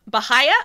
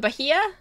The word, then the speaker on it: Bahia: Lugar Bahia? Bahia? How do I say that? Bahia? Bahia? Bahia? Bahia? Silent Age. Bahia.